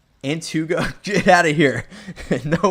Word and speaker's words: Antigo: Antugo.